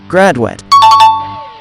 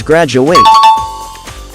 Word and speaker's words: graduate: alumnus of a school the last syllable is pronounced wet not weight hence graduate but if you're referring to the act of finishing an academic course or degree you pronounce it as graduate drop the e